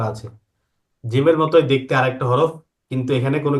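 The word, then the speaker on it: حاء: গলাটাকে একটু চেপে।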